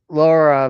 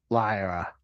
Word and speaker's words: Lyra: I don't understand what's his hate on Lyra. Now you said it right. Did I say it? I try. It sounded like I said it wrong. First time you did, you said Laura.